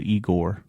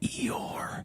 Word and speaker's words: Eeyore: you know they killed eigor you still said it wrong I know I did it on purpose so you would correct me I hate you it's Eeyore Eeyore go back and um